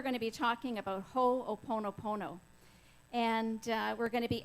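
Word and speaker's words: Hoʻoponopono: So today we're going to be talking about Ho'oponopono.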